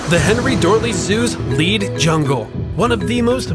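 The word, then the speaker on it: Lied: The Lead Jungle, and yes, it's pronounced that way, I promise, opened in 1992.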